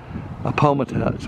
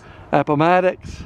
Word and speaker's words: Appomattox: brigade until the surrender at a palm attacks i didn't pronounce that right after the war benny returned to columbus resumed his law practice he died on july 10 1875.